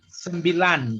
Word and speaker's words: sembilan: Okay, because for the sembilan there, yeah, you have to pronounce sembilan. Your tongue you put at the top. Lan. Lang. Sembilan.